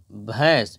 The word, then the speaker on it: بھینس: صحیح ہو گیا ہے، بھے یا زبر بھے، نون غنہ، سین ساکن، بھینس، یہاں پر ہندی میں